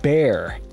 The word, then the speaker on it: Bexar: new release, is the Bexar. I believe that's how you pronounce it. It's based on a city in Texas. It's a confusing pronunciation.